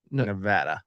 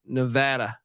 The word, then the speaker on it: Nevada: uh Nevada preview but he says locals pronounce it Nevada Nevada and you know what